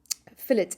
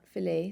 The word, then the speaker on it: fillet: lines okay so um fill it and it's pronounced fill it it's not a piece of steak it's not fillet so fill it we